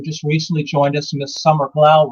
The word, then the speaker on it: Summer Glau: And one of the ones who just recently joined us, Miss Summer Glau, right there. I sure hope I pronounced her name correctly. Did I pronounce it correctly, Ryan? Yep, Summer Glau.